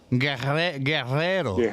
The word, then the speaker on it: Guerrero: You want me to pronounce it for you? Sure, hit it up. Let's hear it. It's Guerrero. Guerrero.